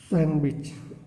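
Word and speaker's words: sandwich: व्हिच letter is silent in the word सैंडविच, सैंडविच में कौन सा ऑप्शन सही हो जाएगा, तो कौन सा ऑप्शन सही हो जाएगा सैंडविच में, तो सी, सॉरी यहाँ पे सी ऑप्शन सही हो जाएगा, डी साइलेंट है।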